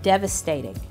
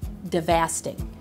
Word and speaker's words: devastated: what it meant but I obviously didn't know how to say it so the word devastated now my Appalachian parents never use the word I'm devastated that was not a word that I ever heard so I never knew how to say it I used to say so I did I embarrassed myself in class I said the word devasted it was so devasted